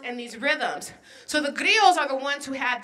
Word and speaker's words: griots: Because he comes from a family of griots. Can you say that for me? Griots. And griot is spelled G-R-I-O-T-S. It's like riots with a G in front of it, right?